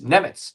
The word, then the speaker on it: Nemec: As Parker Wright says, and I'm sorry if I mispronounce it at all, but it is Nemec.